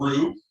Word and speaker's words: roux: out is with a big fancy french term called rue it's spelled r-o-u-x and what roux is